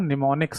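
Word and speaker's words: mnemonics: आप बोलेंगे सर बोल तो आप नी से रहे हो और लिखा एम से गया है। तो इसमें बेटा एम साइलेंट रहता है। तो इसे निमोनिक्स पढ़ा जाता है। निमोनिक्स बोला जाता है।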